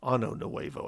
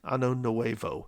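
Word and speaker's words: Año Nuevo: Now, if you want to take a look, Ano Nuevo, I believe is how you say it, Point Ano Nuevo.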